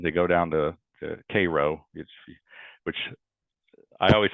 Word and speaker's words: Cairo: they're they're practicing they go down to to Koo which I always say Cairo even though I'm from Illinois and you know